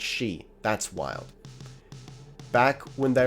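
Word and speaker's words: Sidhe: the high king of the she s-i-d-s-i-d-h-e is pronounced she that's wild back when they were at war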